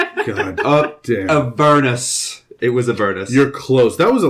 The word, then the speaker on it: Avernus: You mispronounced it. Avalon. I think it's Avalon. It's not Avalon. No, it's absolutely not Avalon. God damn. Avernus. It was Avernus.